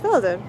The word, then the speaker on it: Velden: to say and felden with a v instead of an f but i think it's pronounced felden and they have a